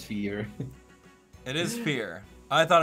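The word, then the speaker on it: Fjorm: up uh we got canon pronunciation of her name which is fear right fear it's not fur or fire fear i don't know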